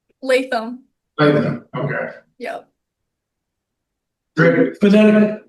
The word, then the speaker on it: Latham: How do you pronounce your last name? Latham.